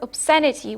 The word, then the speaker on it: obscenity: has a long vowel same for obscenity which has a short vowel moreas it comes from obsene which has a long vowel okay so what happens